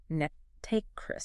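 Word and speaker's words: NTREIS: If you see the acronym ENT uh just know it's pronounced Netris Netris.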